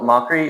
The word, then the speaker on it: Mokry: So Mokry, or that's how you pronounce it in the more English way, but it means wet.